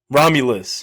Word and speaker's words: Romulus: alien what is it raminus am I pronouncing it right alien raminus ramulus ramulus right R yeah yeah for I